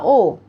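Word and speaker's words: を: hal yang berikutnya adalah Oh ini bacanya o o Hai ini hurufnya ya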